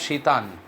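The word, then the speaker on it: Tsetan: by the name of Shitan, you will find it where T is silent in his name, they too will accompany the author.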